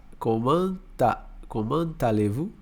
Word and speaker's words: comment allez-vous: Uma coisa que a gente vai perceber no francês, ó, quando você tem uma consoante aqui e uma vogal, a gente junta, né? Então fica, ó, comment allez-vous? Então a gente não separa, né?